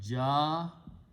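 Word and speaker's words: جاء: Ya with a fatah is pronounced as alif. So it becomes ja. Ja'a means he came or it came.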